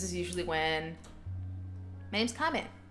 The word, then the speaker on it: Kame: But yeah, this time is ideal for me because this is usually when my name's Kame. K-A-M-E. Kame. My handle, however, is. Kame is kind of not easy to pronounce.